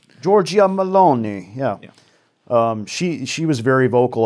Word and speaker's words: Giorgia Meloni: So the new Italian prime minister, I think her name is Giorgia Meloni. Yeah, say it like this. Giorgia Meloni.